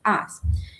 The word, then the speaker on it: us: The we es as, se pronuncia US, pero, perdón, se escribe US, pero se pronuncia como con una A al inicio, as.